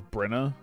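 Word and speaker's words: Byrna: in this game yeah is it can of Brin I have to remember how to spell it can of bread cane of Brin is Brena yeah it's Kane of Brena okay yeah I'll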